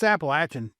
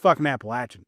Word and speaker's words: Appalachian: Uh, we started to assert ourselves a little bit and say, um, it's Appalachin. Stop saying it wrong. It's Appalachin. It's Appalachin.